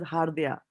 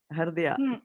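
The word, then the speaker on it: हृद्या: The moment you started pronouncing the way correctly, because here you had called this as hardya. Hridya. Yes, then you came back and said Hridya, right?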